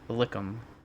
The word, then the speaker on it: Likkim: It's a Lickum. Okay. Follow-up question for Likkim, I think. Yeah. follow-up question Oh, for yeah, Diamond. that one. Uh, yeah, Likkim. That's how it's spelled.